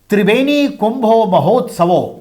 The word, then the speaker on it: त्रिवेणी कुंभो महोत्सवो: त्रिवेणी कुंभो महोत्सवो, Bengali pronunciation है, त्रिवेणी कुंभो महोत्सवो आयोजन ने एक बार फिर से हजारों वर्ष पुरानी परंपरा को जिंदा कर दिया।